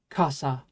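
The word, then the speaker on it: 傘: Anyway, it's pronounced kasa.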